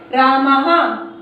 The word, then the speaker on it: रामः: विसर्ग का उच्चारण हा की तरह होता है, जैसे रामः, हा की आवाज निकल रही है।